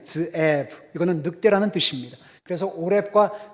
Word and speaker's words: 스에브: 그리고 한글 성경에는 스에브라고 되어 있는데 히브리 발음은 드에브입니다. 드에브.